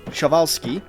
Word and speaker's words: Przewalski: And secondly, yes, despite the spelling, it is pronounced shavski.